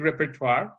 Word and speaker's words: repertoire: But okay, so it seems like we just have one linguistic repertoire. Yeah. And she doesn't use the final R in the pronunciation repertoire.